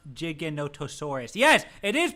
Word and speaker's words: Giganotosaurus: it okay Kibbles thank you I think it's pronounced Giganotosaurus yes it is pronounced that it is 100%